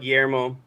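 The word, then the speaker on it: Guillemot: Oh, gimon. That's French. Gimo. Yeah, Gimo.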